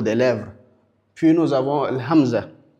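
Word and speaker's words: همزة: Puis nous avons Hamza. Hamzaah qu'on peut dire a tout simplement. C'est comme la lettre A de la langue française on dit A ou elle est prononcée complètement Hamza.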